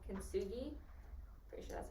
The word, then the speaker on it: kintsugi: So basically, what she was doing in there, with the whole fixing thing, that's a Japanese art called kintsugi. Pretty sure that's how you pronounce it.